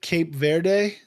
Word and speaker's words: Cape Verde: But the one of the other newest countries is it Cape Verde? Is that how it's pronounced? Yep.